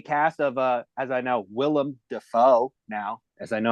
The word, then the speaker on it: Willem Dafoe: and stars a cast of, as I know, Willem Dafoe now, as I know how to pronounce it properly, and Bill Skarsgård is also,